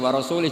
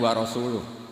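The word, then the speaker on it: ورسوله: Wa rasulih juga gak ngurus Rasulnya. Kalau sama Rasul saja tidak ngurus, apalagi sama kita. Sama Sayyidina Ali dibenarkan, yang benar bacanya itu wa rasuluh.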